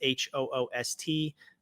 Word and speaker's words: Hoost: Or if you want to find my personal accounts, you can find me at it's HOOST, pronounced Hoost, and the numbers 07.